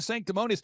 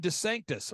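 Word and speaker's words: DeSantis: headed to Ron to sanctimonies I'm sorry I mispronounced it's Rob Des Sanctus Rob Des Sanctus he's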